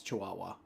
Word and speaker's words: Chihuahua: No, Mikey, it's Chihuahua. Oh, okay. So why are you saying it wrong?